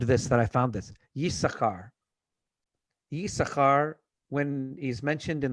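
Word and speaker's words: יששכר: Yisachar. Yisachar, when he's mentioned in the Torah, it's double shin or double sin, but the second shin is not pronounced.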